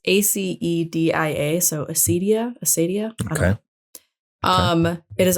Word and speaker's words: acedia: The 8th deadly sin, I don't know how to pronounce it. It's ACEDIA, so acedia.